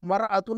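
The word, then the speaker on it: مرآة: हटा दें अल को हटा दें तो हम मरतुन नहीं पढ़ेंगे इमरातन पढ़ेंगे इमरातुन पढ़ेंगे समझ में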